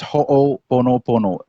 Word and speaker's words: ho'oponopono: Just say the first word, ho'o, and then pono pono.